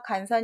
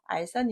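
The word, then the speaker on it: 斡旋: 1급에 합은 r 산입니다 줄기 관서 처럼 보여서 간선 이라고 읽을 수 있는데 내가 알고 있는 환자를 잊지 않으셨어요 알선 입니다 돌봐줄 알짜 구요 맘에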